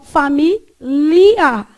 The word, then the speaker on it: família: Então, família e ilha. Você consegue ver que aqui, ó, tem uma diferenciação de onde sua língua encosta.